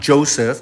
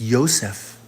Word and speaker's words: Yosef: It's not Joseph. There was no J. Until 500 years ago did they introduce the letter J, which is an upside-down shepherd's staff. It's Yosef, Yahushua, Jesus.